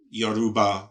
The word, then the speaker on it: Yoruba: Americans call it Yoruba. I'm not sure if you've heard that. Like Aruba. But yeah, Aruba, but with a Y.